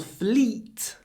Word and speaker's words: fleet: one 293 the whole fleet was sunk when you say Fleet really try to smile fle and pronounce a very soft Fleet Fleet the whole fleet